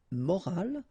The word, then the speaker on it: morale: but in that case you've got this at the end, which is silent, so you don't pronounce it. So clearly it is the same pronunciation for the two words, but then in that case it's feminine.